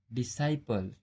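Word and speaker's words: disciple: Rule number, जब एस के बाद सी आता है तब सी का उच्चारण नहीं किया जाता है। जैसे असेंट, साइंस, सीन, डिसाइपल।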